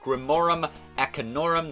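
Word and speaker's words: Grimorum Arcanorum: other than the infamous spellbook known as the Grimorum Acanorum. That is the correct pronunciation.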